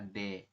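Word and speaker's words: ㄷ: di akhir bunyinya adalah T berarti nanti anda mengikuti seperti itu sesuai dengan aturan bacanya Ya teman-teman kalau dia posisinya di akhir bunyinya t kalau posisinya di awal bunyinya adalah D kemudian yang ini ini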